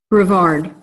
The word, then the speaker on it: Brevard: Brevard.